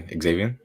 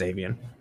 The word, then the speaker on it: Xavien: Xavien? Yeah, because I don't think you pronounce the X. I think it's just Xavien.